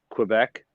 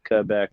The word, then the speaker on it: Quebec: letter kenny yeah okay so whenever they say quebec they each have a different pronunciation and they always hit all four together quebec quebec so there you go that's it the